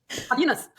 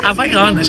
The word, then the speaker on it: Havaianas: Ela falou Havina, Rivana, tudo, menos Havaiana.